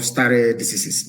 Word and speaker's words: stare decisis: It is called stare decisis. It means I will spell it for you.